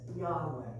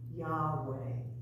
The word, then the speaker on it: Yahweh: in scripture with lord the name god gave to moses is the word we pronounce as yahweh this is not accurate but it is as close as we can come say the word say